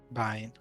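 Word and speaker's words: Bein: name by the way Bine so how how do you spell that b e i n Bine like you're binding VI soon but anyway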